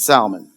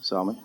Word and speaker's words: salmon: nice um steak siiz my wife says I say this wrong but you'll know what I'm talking about it's salmon did I say that pretty close salmon salmon yeah that's how you say it huh I like the